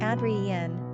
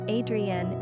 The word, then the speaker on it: Adrienne: Pronunciation, Adrienne, French, Adrienne, English.